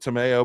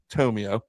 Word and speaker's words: Tomeo: Some people pronounce it Tomeo, but I think it's Tomeo. The Coach Dom Tomeo from Triton Regional High School.